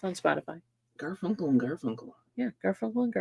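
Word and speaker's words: Garfunkel: says Mary check out the new album by gar funkle and gar funkle on Spotify notice I said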